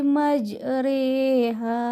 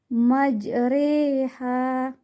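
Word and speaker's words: مجريها: Wa khalar kabu fiha bismillahi majriha wa mursaha. Di bacaannya majriha, majriha. Di cara membacanya memiringkan bunyi fathah ke arah kasrah. Bunyi imalah sama dengan bunyi huruf E pada kata hei.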